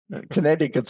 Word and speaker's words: Connecticut: that Connecticut matters um Connecticut's slogan is the second SE is silent I mean it's just